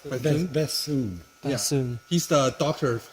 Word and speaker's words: Bethune: Oh, How do you pronounce his Bashun. English name? Bashun? Bethune.